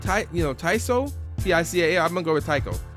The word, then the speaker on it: Tical: So I'm listening to his debut album, how you pronounce this? Is it Tical? Tical? T-I-C-A-L.